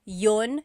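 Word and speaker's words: 'yun: might hear me saying Yun Yun as if there's no I and that's commonly how it's pronounced you might hear people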